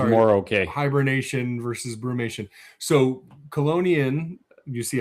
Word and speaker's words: Chelonian: So colonian, you see how I said it is is um it's it's a Latin word and ch in Latin is pronounced like a k. So colonian.